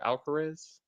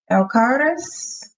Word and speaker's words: Alcaraz: Does that sound right? Detective Alcarez? Alcaraz. Yeah, Alcaraz.